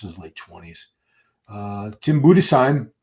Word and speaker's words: Budesheim: 30 yet this is late 20s uh Tim budesheim it's the correct pronunciation from Germany Tim brought a great package